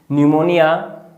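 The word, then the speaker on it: pneumonia: और P फॉर न्यूमोनिया, यहाँ पे P साइलेंट होता है इसलिए न्यूमोनिया, प्लूरोन्यूमोनिया, न्यूमोनिया सही है।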